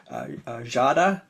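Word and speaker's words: Giada: the artist's name, and her name is Jada. That's how you pronounce that first name, Jada, and then Piri Sinoto.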